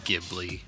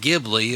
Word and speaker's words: Ghibli: So we can conclude that if the guy who named it flat out says, if I knew it was properly pronounced Ghibli, it would be Ghibli and not Ghibli or Ghibli, and he doesn't care